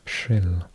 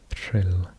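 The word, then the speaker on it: Rhyl: So it is pronounced shrill. So you're like saying a trilled r, and then you're blowing as well, so shrill, shrill.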